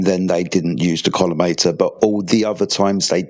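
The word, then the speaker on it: collimator: The kometer columator.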